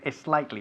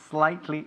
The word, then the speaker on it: slightly: The S plus consonant is never pronounced S, okay? We don't say España. We say Spain. We don't say es slightly. We say slightly. So Spain is slightly smaller than France.